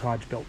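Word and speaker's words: Hogebuilt: I say Hodge built that's that's how I pronounce it but I say hog built y everybody's got their own thing you know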